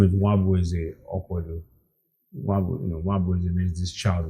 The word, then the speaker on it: Nwabueze: My full name is Nwabueze Okwodo.